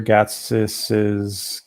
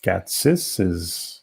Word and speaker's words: Gatsis: We're going to play George Peter Gatsis. Gatsis? Is that the right way to say it, George? Gatsis? It sounds right. Is that acceptable?